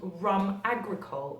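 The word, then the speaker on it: rhum agricole: It's actually called rum agricole, and that is spelled R-H-U-M, agricole, which is A-G-R-I-C-O-L-E.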